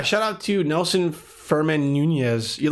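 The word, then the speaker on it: Núñez: Shout out to Nelson Furman Nunez. You like that? You like how I pronounced that double N, Nunez? Because I know it's not Nunez. It's with the little squiggly line above the N.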